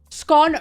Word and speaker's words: scone: like over the top scone rhymes with gone for me I'm just